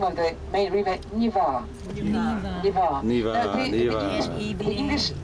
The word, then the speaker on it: Neva: We're driving up the flow of the Niva River. So we pronounce the name of the main river Niva.